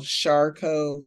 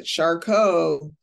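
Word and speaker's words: Charcot: t and that's foot it's like a French uh name uh of a a medical person in the past that they named this after but shco means that the foot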